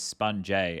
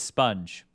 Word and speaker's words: SPUNJ: friend is constantly saying your name is spun Jay and the rest of us are saying sponge like it should be said can you clarify for him what the credit correct pronunciation for the ages so I actually replied and I said sup bro it's sponge sponge a is what people